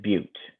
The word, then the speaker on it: but: And 4 is bute, even though it looks like but.